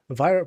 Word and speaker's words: Vyra: vir pronounced like virus without the s.